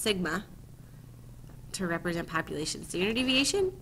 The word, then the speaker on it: sigma: And we use this symbol, lowercase letter s in Greeks, it's pronounced sigma, to represent population standard deviation, and just so similar to the one above.